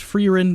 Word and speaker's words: Frieren: also before you say anything I know it's pronounced frein but I say fren because that just feels natural to me now